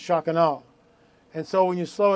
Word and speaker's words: Shekinah: that's how it's pronounced the American bastardization of it is Shekinah but it's actually pronounced shakano and so when you